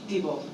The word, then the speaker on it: Diebold: How do you pronounce it? Is it debold or dbold? Debbold. Debbold. Debb. Yes. Yes.